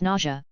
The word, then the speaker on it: Nausea: I did my best to tactfully ask how to pronounce it and she said it's nausea, just like when you have to throw up.